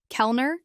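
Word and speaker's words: Kellner: Pronounce it as Kelner Kelner in gutapetit.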